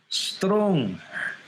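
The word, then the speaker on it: stroang: Strong. He almost makes it there's almost a second syllable in the way he does it.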